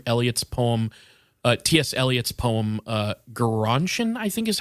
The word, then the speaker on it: Gerontion: Eliot's poem, Gerontion, I think is how you pronounce it.